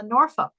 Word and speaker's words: Norfolk: came back from uh Norfolk uh and that was your language I know well the proper way to say it I tried to tone it down a bit I would say Norfolk and that's where my